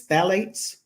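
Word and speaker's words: phthalates: that anybody is putting on their body however phalates are in 70% of the IV tubing and medical bags in hospitals in California now is there I was pronouncing it phalates it's phalates that's right people say it different ways it's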